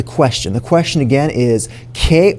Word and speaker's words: qué: So as an English speaker, I think that ¿qué sounds like the letter K, so I'm going to write that down right here.